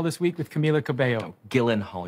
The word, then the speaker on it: Gyllenhaal: week with Camila Cabello Gillen Hall your name is pronounced gillenhaal I guarantee you it is not